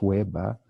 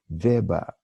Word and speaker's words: Weber: Then continues, Ich bin Helga Weber, not Weber, Weber.